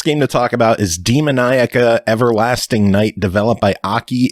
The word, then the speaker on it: Demoniaca: Oh, I don't know how the fuck you pronounce it. I'm just taking a stab at it. I'm taking your cue then. Demoniaca is a game where you play as a